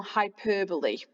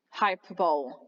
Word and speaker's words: hyperbole: And this here is what we call hyperbole. This is not hyperbole, it's hyperbole.